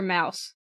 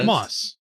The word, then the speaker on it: Moss: played uh to pronounce is it Moss or Mouse Moss no I thought it was Mouse is it I've heard both pronunciations moss moss oh I oh yeah yeah no it is moss you're right I'm sorry